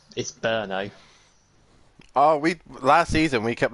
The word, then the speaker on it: Brno: How do you pronounce the track name, Dan? Bruno. It's Brno.